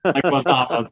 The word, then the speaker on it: Leguizamo: I never can pronounce his name correctly. John Leguizamo. John Leguizamo. Leguizamo.